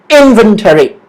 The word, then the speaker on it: inventory: All right, inventory. Inventory. The stress is on the word in. Right, inventory. The first syllable.